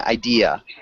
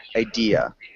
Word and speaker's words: idea: Ken, the only small thing, idea. Idea. Idea. Good. And make sure you don't have an R sound at the end. It's just idea.